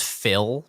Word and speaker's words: Fyhll: I have my guy his name is Phil, but it's spelled Fyhll.